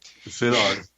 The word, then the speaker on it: Szilard: Leo Szilard, Dad, you'll have to pronounce that too because I'm butchering it. Szilard.